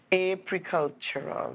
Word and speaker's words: Apicultural: Apicultural. Apicultural, that's right. So we've been saying it wrong all morning.